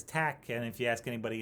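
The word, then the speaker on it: Taq: that as t aq and so we just say that it's tech and if you ask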